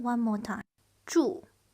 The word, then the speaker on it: 祝: 祝 This is the fourth tone. It's strong down, feel like angry.